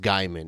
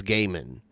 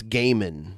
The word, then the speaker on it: Gaiman: he has cleared it up himself it's not pronounced guyman it's Gaiman it's not gay man but it's Gaiman like that if I could choose my own